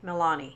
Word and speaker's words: Milani: Milani. Is that how you say it? Milani.